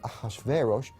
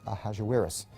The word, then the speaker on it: Ahasuerus: His Persian name, in Old Persian, which is his original native language, is Shayarsha. Now, that was hard for the Jews to pronounce, so they said Ahashverosh. We know him as Ahasuerus. And the Greeks said Xerxes, which is Xerxes.